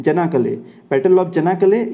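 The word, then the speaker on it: Çanakkale: अच्छा, इस गलीपोली जो बैटल है उसका दूसरा नाम भी है, चन्नाकले। बेसिकली नाम सी से है लेकिन इसको प्रोनाउंस करते हैं जनाकले, बैटल ऑफ जनाकले या बैटल ऑफ गलीपोली, ये दोनों ही एक ही बात है।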